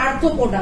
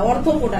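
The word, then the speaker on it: আর্থ্রোপোডা: ঠিক আছে, এই উত্তরটা হবে আর্থোপোডা, অর্থোপোডা না, আর্থোপোডা। উচ্চারণটা আমার ভুল হয়েছে, ঠিক আছে, আমারই উত্তরটা বলা ভুল হয়েছে।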